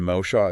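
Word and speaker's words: משה: And Moshe is like mow the lawn. Then Shah, like the Shah of Iran. Moshe.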